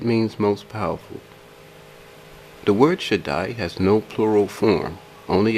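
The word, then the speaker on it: שַׁדַּי: Strong's reference eight seven seven zero six is pronounced Jedi the Hebrew word should die means Almighty it means impregnable and it means most powerful the word should die has no plural form only a singular form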